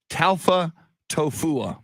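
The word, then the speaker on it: Taufatofua: it so i i i saw a video of him saying it it's tau alpha tofu yes pita talfa tofu very cool again and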